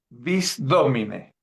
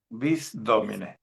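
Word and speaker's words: Visdómine: Bisdomine. Visdomine es una palabra esdrújula. Lleva asiento en la o. Visdomine.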